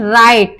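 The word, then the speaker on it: write: silent हो जाता है फॉर एग्जांपल राइट इसको हम डब्लू नहीं डब्लू से राइट नहीं बोलेंगे कुछ बच्चे बोलते हैं डब्लू लगा के बोलते हैं तो डब्लू साइलेंट रहेगा क्यों रहेगा क्योंकि इसमें डब्लू के बाद आर आया है तो हम क्या बोलेंगे इसका प्रोनाउंस राइट रॉन्ग डब्लू के बाद आर आया है तो हमने इसको डब्लू को साइलेंट कर दिया तो हमारा क्या हो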